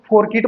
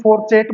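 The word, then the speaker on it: fourchette: इसके प्रोनाउंसिएशन जो है आप अपने हिसाब से इसको, कुछ लोग इसको फोरकिट बोलते हैं, कुछ फोरचेटे बोलते हैं, कुछ फोरचेट बोलते हैं। जो भी आपको बोलना है आप अपने कन्वीनियंस के हिसाब से, अपने कन्वीनियंस के हिसाब से आप इसको कुछ भी बोलिए, लेकिन हमारा प्रोनाउंसिएशन क्या है? फोरचेटे। मैं इसको क्या बोलता हूँ? फोरचेटे।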